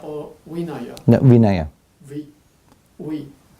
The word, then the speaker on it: Vinaya: Should should I pronounce as a Vinaya or Vinaya? No, Vinaya. We. It's okay. You just Because Pali, we pronounce as W.